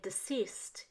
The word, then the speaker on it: deceased: composing in their graves we say deceased even though cease is a word but ceased means stop it has nothing to do with dead deceased means dead so we don't mean